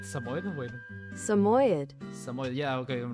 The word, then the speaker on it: Samoyed: By the way, to answer your question, I'm planning to make my persona Samoyed who's a puppet. Wait, Samoyed? How do you say that? Wait. Am I saying it right? Samoyed? Wait. Samoyed.